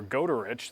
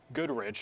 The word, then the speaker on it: Goderich: If you look across Lake Huron here going into Ontario near Goderich, that's not Goodrich. A lot of people tell me that Goodrich is at the wrong spot on the map. That's actually Goderich. Might be pronouncing it incorrectly,